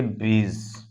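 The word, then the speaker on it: bridge: उच्चारण नहीं होता है देख लेंगे आप डी के बाद जी आएगा अगर कहीं भी तो उसमें हम डी को जो है साइलेंट कर देंगे डी का उच्चारण नहीं करेंगे जैसे बी आर आई डी जीी ई इसको पढ़ेंगे ब्रीज ब्रिज मतलब पुल होता है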